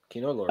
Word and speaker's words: Kino Lorber: Kino Lorber.